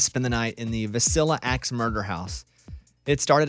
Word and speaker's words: Villisca: Villisca? I've heard it a million ways. It's actually pronounced Villisca.